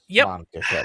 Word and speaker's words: mangaka: Mangaka, that's how it's pronounced.